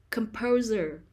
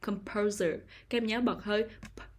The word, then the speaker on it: composer: the second syllable compose compose composer composer the stress is on the second syllable composer pro composer composer control